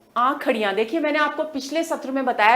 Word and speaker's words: आंखड़ियां: आगे चलें, अगली साखी है आंखड़ियां। देखिए, मैंने आपको पिछले सत्र में बताया था कि ये जो श आएगा, इसको हम ख की तरह इसका उच्चारण करेंगे। आंखड़ियां झाई पड़ी, पंथ निहारे